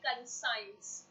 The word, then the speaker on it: conscience: the time people saying conscience. This is not conscience. The pronunciation is not conscience, it's conscience. I'm repeating again. Once again, all of you, the pronunciation is conscience. It's not conscience.